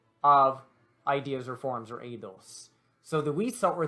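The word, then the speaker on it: eidos: sense in the idol uh the edos i think i even pronounced it idols last time the adults the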